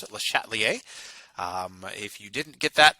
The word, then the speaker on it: Le Chatelier: That's how you pronounce it, Le Chatelier.